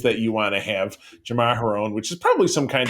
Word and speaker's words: Jamaharon: everybody thinks he wants Jaraharom. So this lady, yes, you know what? I was just going to correct your pronunciation, but Jamaharon, that's it.